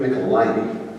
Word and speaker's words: Michelinie: David Michelinie. Correct. I'm getting better. By the time Sunday comes around, I'll have it. Michelinie. Like nickel. Yeah. Well, Jim used to say it rhymes with pickle my knee, so.